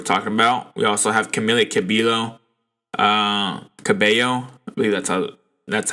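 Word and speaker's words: Camila Cabello: of people were talking about we also have camilla cabilo that's how it's pronounced uh replacing kelly clarkson on the voice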